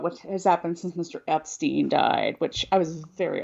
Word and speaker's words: Epstein: Does not change that Brian wanted his name pronounced Epstein.